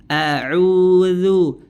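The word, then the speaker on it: أعوذ: dzal maka kita tahu huruf dalzal itu keluar dengan menempelkan ujung lidah kita ke Ujung dua gigi seri atas ya tanpa menebalkan hurufnya jadi rileks Santai juga pengucapannya audu duz duzu audzu dzu dzu ya jangan ditebalkan Nah ya itu perlu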